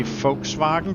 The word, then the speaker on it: Volkswagen: English, do you say Volkswagen or do you say say Volkswagen or Volkswagen, maybe? Because the the Germans pronounce their V's as F. That's why I say Volkswagen because that first part